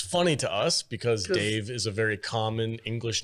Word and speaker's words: Dev: No, it's pronounced Dave. It's definitely Dave.